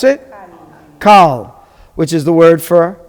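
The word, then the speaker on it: כל: How do you pronounce it? Kal, which is the word for all.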